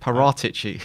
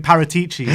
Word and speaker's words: Paratici: Paratici. That's how you say his name. That really I got told off by calling him Paratici. So like parrot.